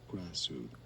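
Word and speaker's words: Krasue: There are different pronunciations depending on the country. Essentially, Kaju is one of them. Some say it but in English it's often pronounced Crazu.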